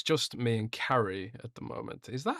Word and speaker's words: Cary: on Friday, but uh it's just me and Carrie at the moment. Is that how you pronounce your name?